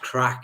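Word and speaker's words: craic: I always thought uh it it's it's pronounced crack in um like or crack in um in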